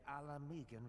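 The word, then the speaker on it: Ala Mhigan: with the displaced victims of the calamity and alamegan refugees oh that's how you pronounce it they live hand-to-mouth subsisting on aid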